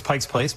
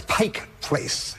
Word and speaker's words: Pike Place: Dan, what is Pike's Place Market? No. Sarah or Michelle? Sorry, Dan. We are sticklers in Seattle. It's Pike Place. No S.